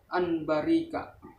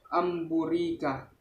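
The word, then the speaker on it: أن بورك: Cara membacanya dengan suara nun atau in an menjadi suara mim dengan merapatkan dua bibir serta mendengung. Contoh yang nun sukun bertemu ba. Anbarika. Yang nun sukun bertemu ba. Amburika.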